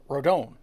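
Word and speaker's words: Rodón: if you're Hispanic and have that name it's rodone so I always say it like rodone and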